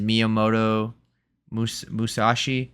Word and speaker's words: Miyamoto Musashi: His name is Miyamoto Musashi. I think that's how you say his name. Musashi, yeah, sounds right.